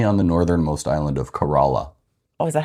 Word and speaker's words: Corolla: the northernmost island of Corolla. Oh, is that how you pronounce it? It is. Was I always pronouncing it wrong when we were there? Well, we both thought it was Corolla, like the car, but we Right.